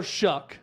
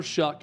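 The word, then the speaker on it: Shough: nine and two Tyler shuck it's a weird pronunciation for how the name is spelled but Tyler Shook at quarterback the Oregon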